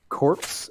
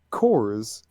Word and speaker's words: corps: So the word is CORPS. Corpse. And it's pronounced cores. No. It is correctly pronounced cores.